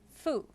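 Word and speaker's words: ふ: hiragana is actually pronounced fu it is the only one that is pronounced as an f sound instead of who it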